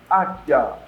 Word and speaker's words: águia: O U não é pronunciado. O I também sai fraquinho. Águia. O A aparece, ele forma a sílaba, mas as outras não têm um som forte.